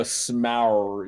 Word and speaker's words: Smaug: No, Smaug. You have to really elongate it.